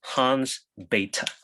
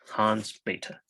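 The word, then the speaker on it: Hans Bethe: scientist his name was hans beta okay we pronounce it beta he's german h-a-n-s-b-e-t-h-e hans beta all right and i'm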